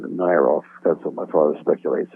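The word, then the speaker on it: Nierow: So somebody must have realized that N-I-E-R would be pronounced as Nair, and O-W, like Tchaikovsky, is Tchaikovsky. So the O-W became an O-V. So it must have been Nairov.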